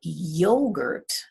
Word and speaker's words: yogurt: we say yogurt or do we say yogurt the stress is on the first syllable yogurt yogurt the stress